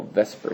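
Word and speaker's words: VSEPR: and it primarily focuses on what we call Vesper Theory and Vesper Theory maybe isn't an accurate pronunciation of This Acronym but it's veent shell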